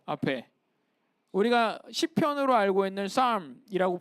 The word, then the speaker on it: psalm: 우리가 시편으로 알고 있는 psalm이라고 불리는 P가 묵음입니다. 영어.